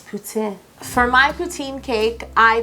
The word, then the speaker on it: poutine: with a poutin cake I believe the proper pronunciation is poutin for my poutine cake